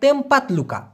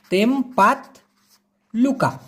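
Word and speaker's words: tempat luka: ওইটাকেই আপনি বলতে পারেন তেমপাত লুকা। কি বলতে পারেন? তেমপাত লুকা। আমি লিখে দেব, লিখে দিই, তাহলে আপনার জন্য বুঝতে সুবিধা হবে। উচ্চারণটা হবে TEMPAT, লুকা, এরকম উচ্চারণ হবে, তেমপাত লুকা।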